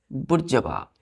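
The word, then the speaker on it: bourgeois: अपने चौथे वर्ड पे चौथा वर्ड है बच्चों बुर् जवा क्या है बुर् जवा ध्यान दीजिए चौथा वर्ड हम लोग होगा वह है जवा स्पेलिंग ध्यान दीजिए बच्चों हमने क्या लिखा है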